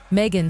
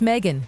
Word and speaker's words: Meghan: Megan, snapping, "It's Megan, not Megan." The H is silent.